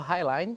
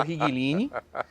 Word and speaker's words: Highline: te elogiar a pronúncia você acertou Highline que muitas vezes virou rigline outra coisa difícil todo